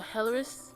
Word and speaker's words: Elris: Because it's how they pronounce it, because that's the H and the R. R-I-S. So, yeah. So, Helleris? Yeah, Helleris. That's how you pronounce it, though. That's how you pronounce it, but in English it looks like Elris.